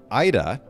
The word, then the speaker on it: Aida: tell you like a totally random fact um ida and am i pronouncing your first name correctly that's correct okay